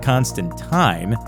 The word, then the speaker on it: Constantine: bisexuality of John Constantine whose name should be pronounced Constantine if you're talking about the comics version John Constantine Constantine is